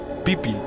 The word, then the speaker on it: Pippi: is actually pronounced uh peepi yeah um it's it's not quite pippy as we read it in English so it's actually peee